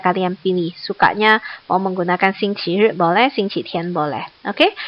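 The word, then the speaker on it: 星期日: Satu dibaca xingqi ri, satu lagi dibacanya adalah xingqi tian.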